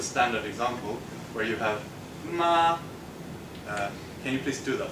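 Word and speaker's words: 妈: This is the standard example where you have ma. Can you please do that for me? Ma. Ma. Great. And you're not allowed to change that tone. You see, it's high and straight.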